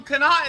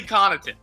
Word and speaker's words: Connaughton: say his own name they call them Kenai in the whole thing there's no way his name is Kenai n-- that kid's name is definitely Connaughton the ones are the